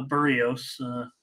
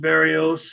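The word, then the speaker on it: Berríos: while uh really looking good Barry a a burrios I should try to say it right I have just always said Barrios and uh I know it's burritos uh solo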